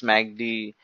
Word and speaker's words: MACD: be knowing that yes Magdi might have heard about mag dick it's not that magda vigeous which we go for eating its MACD it's normally being pronounced as magdi in the market so coming to magdi